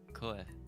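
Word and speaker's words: 声: Koe.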